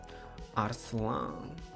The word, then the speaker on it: Арслан: Ребят, правильно говорить... Арслан.